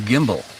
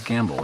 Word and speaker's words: Gimbel: I want to call him Gimbal, but I call him, the correct pronunciation is Gamble, I believe.